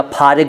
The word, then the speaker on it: फ़ारिग: फ़ारिग को कई लोग फ़ारिग या फ़ारिग बोल देते हैं, वो ठीक नहीं है, सही उच्चारण है फ़ारिग।